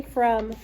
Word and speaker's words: from: What's the tricky part in this word? O. The O is tricky, right? Because the O is not saying off.